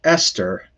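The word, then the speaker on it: אסתר: through them one by one so this is ester so this ester and then the below that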